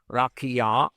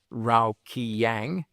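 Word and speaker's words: רקיע: The explanation of facsimile 2, figure 12 reads, and I'm going to pronounce this correctly, Rakia, not Raukiyang.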